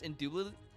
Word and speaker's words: indubitably: I know there's a T, but you Canadians don't pronounce it. So it's indubitably.